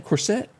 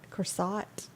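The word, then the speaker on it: Corsaut: pronounce that last name corset of course corsought of course not like one of those things you're wearing prom it's a corsage 1949 if you've ever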